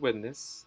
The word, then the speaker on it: witness: But in the case of witness, the stress goes on the first syllable, witness as a noun and witness as a verb. There's no variation in pronunciation with this one.